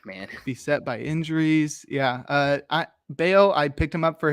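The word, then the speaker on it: Brayan Bello: Bayo, yes, sir. Brian Bayo. You're on top of the pronunciations today, my dude.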